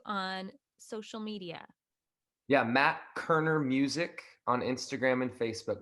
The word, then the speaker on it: Koerner: It's pronounced Koerner and it's Koerner.